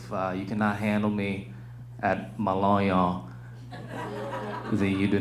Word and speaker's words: Lonion: My last name is Lonion. It literally rhymes with ha-ha.